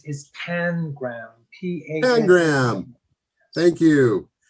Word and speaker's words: pangram: Pangram. Thank you. You'll often hear pronounced panagram for some reason. You like sticking the other A, but Pangram.